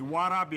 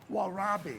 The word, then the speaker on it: warabi: the first thing we're going to do is warabi I want you to pronounce warabi all right say it again warabi Wabi that's close enough okay no it isn't what